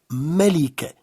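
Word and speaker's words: ملكة: Pour dire une reine, on va appliquer la règle générale du féminin. On prononce un à la fin, donc on obtient Melike.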